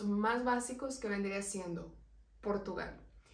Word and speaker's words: Portugal: pronunciado por tu guías Portugal suena como con una u al inicio el siguiente sería Brasil